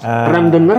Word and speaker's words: Randonneur: Randonneur apa Randonneur sih Bang bacanya? Randonneur. Orang panggil Randonneur ya. Randonneur.